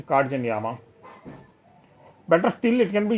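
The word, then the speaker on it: Katzenjammer: That is pronounced as Katjanyama in English. But the actual German pronunciation is Katjanyama.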